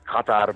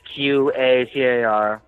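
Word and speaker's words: قطر: In Arabic, it's pronounced Qatar, but they spell it in English Qatar.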